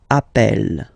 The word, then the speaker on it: appel: the pronunciation of uh you tend to pronounce it like e e really open that's the reason why you pronounce it app Appel okay Appel Appel Appel